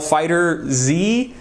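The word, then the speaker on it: FighterZ: secondly is Dragon Ball Fighter Z you might want to call it fighters but it's it I believe the actual pronunciation of that is fighter Z I'm not a huge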